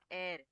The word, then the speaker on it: heir: Same way तो word आपला air.